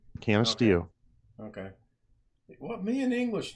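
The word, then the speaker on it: Canisteo: Canasteo.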